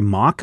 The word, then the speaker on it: Mok: The art on this issue is being done by Audrey Mok, I think is how you say her name, M-O-K.